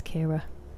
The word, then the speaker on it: Ciara: But I used to say to people, it's pronounced like Kira Nightly, but spelled like Sierra, and that would help. But yeah, it's Kira.